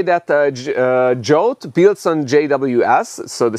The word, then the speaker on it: JWT: the protocol and then we have jolt it it says you need to pronounce it yeah it sounds ridiculous in hungarian uh we say yeviti or yi vaviti if we are from elta and this one builds